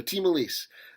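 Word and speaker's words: Ti Malice: i realized oh apparently that's the correct way to pronounce time alice so team elise uh is this sort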